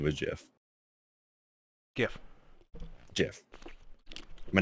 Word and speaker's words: GIF: graphics in the hypothetical gif are not the same thing except graphics is part of gif it's the g that's why it's a hard g so the the titan